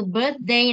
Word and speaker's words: birthday: Vậy thì các bạn sẽ luyện cho cô và cô sẽ gọi từng bạn đọc cái từ birthday này nhá.